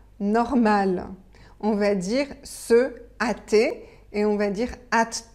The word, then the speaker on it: hâter: vous avez un H le h on ne le prononce pas et vous avez un